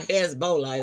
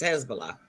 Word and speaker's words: Hezbollah: Americans, we say, well, most Americans say Hezbollah, but it's not Hezbollah, it's Hezbollah.